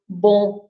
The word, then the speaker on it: bom: And of course, the bon, we don't pronounce the M at the end, right? It's just the nasal sound of bon. So, bon.